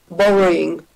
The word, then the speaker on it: worrying: Worrying.